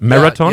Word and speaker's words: Maratone: part of the interview with marathon is it pronounced right Marathon yeah it is marathon where is this name